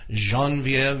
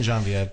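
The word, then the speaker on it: Genevieve: Her name is Genvieve Chappelle. All Yay! Yay! You Hey, pronounced Genvieve.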